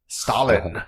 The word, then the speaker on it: Staalen: I'm here today with Staalen.